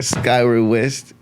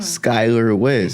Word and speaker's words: Skylar West: But yeah, Skyward West. And Skyward West. Who? That's your name, right? Say it one more time. Skylar West.